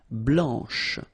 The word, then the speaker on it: blanche: final C, and then blanche. Okay, remember when you combine this CH, you get the sound sh, blanche.